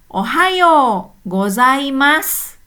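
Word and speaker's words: おはようございます: Meskipun di sini pakai su di belakangnya tapi enggak jelas-ya. Jadi cuman s-nya aja ya. U-nya lesat. Hai. Yuk kita ulangi. Ohao gozaimas.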